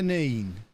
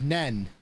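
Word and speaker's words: Nene: nine nine river neem river neen the numb schools in northampton pronounce that as nen i can only assume they can't read beyond three-letter words so they don't see the e at the end they probably call it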